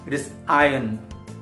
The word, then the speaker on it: iron: we know that it is Island same way it is iron not hidin it is iron winter none doesn't